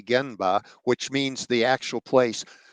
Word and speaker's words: genba: from my lean friends go to the gimba or pronounce correctly genba which means the actual